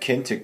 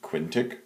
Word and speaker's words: Quentiq: look at an application called kinck tracker I think is how you pronounce it you could probably also pronounce it quintic quinti or um Ki is another one lots of variations there